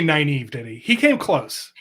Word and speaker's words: Nynaeve: I always, in my head, I turned this into Nineveh, which it's not even phonetic, but Nineveh was what I always said. And you can tell us the actual name. It is Nynaeve. Nynaeve. But I always called it Nineve.